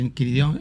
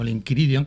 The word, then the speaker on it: Enquiridion: O sea, digamos que es una mezcla, el Enquiridión, o el Enquiridion, como se debería de pronunciar correctamente, aunque la Real Academia de la Lengua lo acentúa al lado de Enquiridión, es una recopilación.